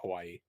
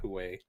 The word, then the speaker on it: Huawei: I always wanted to call it Hawaii, but I think it's like Huawei.